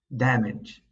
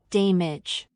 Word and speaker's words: damage: As for our last word, we have damage. Some English learners might mispronounce it and say damage. The word damage actually rhymes with cabbage to make it easier.